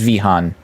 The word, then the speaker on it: Vihan: Yeah, it's not with a normal V sound. No, yeah, no, it's with a normal V sound, so it is Vihan.